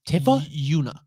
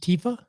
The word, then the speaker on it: Tifa: out uh who's the main character in that tiffany who's tiffa she's in seven i don't know anything uh yoona yoona is the tifa equivalent in uh ten pronounced tifa yes hell yeah so out